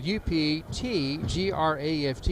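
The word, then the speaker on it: Uptegraft: to attempt the shot his name is spelled u p t gr aft is pronounced up t graft and he has a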